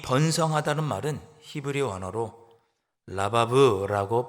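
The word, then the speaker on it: רבב: 1절에 나오는 이 번성하다는 말은 히브리 원어로 라바브라고 발음하는데 그냥 숫자가 1명, 2명, 3명 늘어나는 것을 의미하는 표현이 아니고 엄청나게 무수히 많은 숫자가 갑자기 증가하는 것을 나타내는 표현이 라바브라고 하는 단어입니다.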